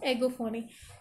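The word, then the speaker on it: egophony: कैसे कर सकते हैं कि स्पेलिंग शुरू हो रही है ई से लेकिन हम प्रनन करते हैं ए के थ्रू, एगोफोनी।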